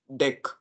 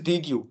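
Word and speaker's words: deque: एक होता हैके पास डेक उसको डी क बोलते हैं बट इट्स नॉट डी क इट्स डेक ठीक है डी उसका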